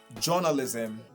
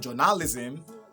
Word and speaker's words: journalism: Now, the reason why it's pronounced that way, it's not journalism or any other thing, is because the stress pattern is at the beginning, is at the first syllable.